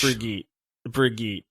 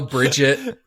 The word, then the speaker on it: Brigitte: Yeah, it's Brigitte. We'll allow Bridget, and I've heard so Baguette. There's so many pronunciations. They're all valid.